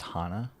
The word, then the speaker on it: Hana: It's pronounced Hana.